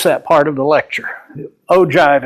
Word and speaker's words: ogive: part of the lecture Oh jive is how you pronounce that Oh giv e it's